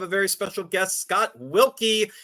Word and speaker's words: Wilke: very special guest Scott wilky not with an ie as I learned earlier today even though it's pronounced wilky no I right there